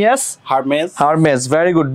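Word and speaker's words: Hermès: nice তারপরে এইচ ই আর এম ই এস হারমেজ হারমেজ very good B O double T ই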